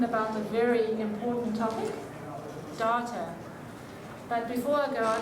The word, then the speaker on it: Data: It is pronounced data. Oh? You called me data. Well, what's the difference? One is my name. The other is not.